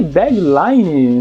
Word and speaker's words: deadline: E só para revisar a pronúncia certa, a gente fala deadline. Line. Final é sempre mais fraco, não é deadline, é deadline. Então deadline eu acho que realmente não precisa não, podia ser prazo mesmo.